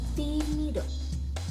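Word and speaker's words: tímido: sini ya kan, timido, ada i-nya itu ada tanda petik di atasnya. Nah, itu cara pengucapannya lebih keras teman-teman.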